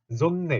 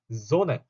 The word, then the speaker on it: Sonne: n을 두 개를 같이 붙이면 zonne 이렇게 읽혀요. 그게 아니라 zone 이렇게 자연스럽게 읽으시면 됩니다.